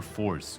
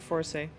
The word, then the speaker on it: Forze: yeah alright well because if it's force then it should be a sea and it's not a sea it's as it I think I mean it is e but I think we pronounce it for say that is a coupon